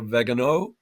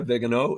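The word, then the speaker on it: Viganò: In fact, one of them uh Carlo Vegano, I believe is how you pronounce his name. Carlo Maria Vigano, he was actually exccommunicated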